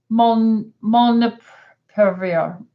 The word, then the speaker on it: molnupiravir: Okay, so Deborah said, what are your thoughts about molnupiravir? How do you pronounce that?